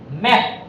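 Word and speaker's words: map: যেমন ম্যাপ, এটা আমরা বলবো ম্যাপ, এটা পিটা ফ হবে না, এই পিটা ফ হবে না, হবে ম্যাপ।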